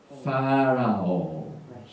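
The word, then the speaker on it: פרעה: 파라오. 페이, 레이시, 아인, 헤이. 그래서 파라오. 이렇게 발음합니다.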